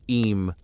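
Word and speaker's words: Eyam: If the people of Ayam, pronounced Eam, flee, they risk becoming vectors, carrying death into nearby villages, spreading the infection across Derbyshire and beyond.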